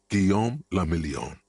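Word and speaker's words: Guillaume Le Million: Guom lamelon. If it doesn't rhyme, you're not pronouncing it right.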